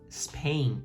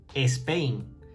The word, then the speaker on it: Spain: Y además, así, nos esforzamos, que nos cuesta mucho a los españoles pronunciar la S al principio de palabra, que no decimos Spain, que decimos Spain, que esa E no está ni aquí ni en la China.